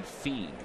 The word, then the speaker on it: Fien: It's actually pronounced Fiend. Casey Fiend, who is out of the Astros organization, made it to the major leagues with the Tigers back in '09 and 2010.